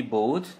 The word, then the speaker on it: bought: Buy menjadi bought ya. Buy, bought, bought ya, bought. B-O-U-G-H-T. Nah, ini agak jauh nih. Membeli dari buy menjadi bought ya, bought ya, B-O-U dibacanya O, jadi bought ya, buy, bought ya.